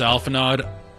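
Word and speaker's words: Alphinaud: It's pronounced Alphanod. I'm going to say Alphanod. I don't like him, so I'm going to mispronounce his name on purpose. How pretentious is it to put an aud?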